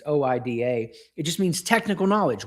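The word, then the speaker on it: οἶδα: Well, the Greeks had a word for that called Oida, or different ways you pronounce it. It's Oida.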